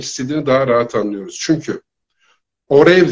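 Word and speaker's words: עורב: Çünkü orev deriz kargaya, İbranice'de orev deriz. Orev. Ayin, vav, reş, tamam, bet harfleriyle yazılır. Orev diye okunur, anlamı kargadır.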